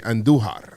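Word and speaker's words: Andújar: Roll your R's when you say Andujar.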